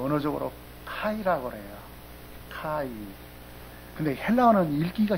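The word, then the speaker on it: καί: 그냥 K는 키읔자 발음 나죠. 기역자나 키읔자요. 그래서 그 A가 아자 발음 나잖아요. 그리고 이가 있잖아요. 보면 그대로 읽으면 돼요. 카이 그래요.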